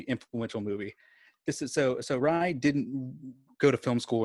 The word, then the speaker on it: Ray: I've looked into this because it's hard to say his name, but it's spelled Ray, R-A-Y, but it's pronounced Rai.